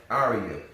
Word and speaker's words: Arya: Arya.